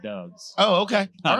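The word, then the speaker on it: Doubs: doves who they called Dobbs which annoys me who got hurt and he's badass Dobbs is not pronounced Dobbs d-o-u-b-s okay and Nevada we call that doves oh okay all right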